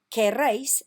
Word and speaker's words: queréis: Queréis, again, not quieres, queréis, it's spelt differently, means you all want.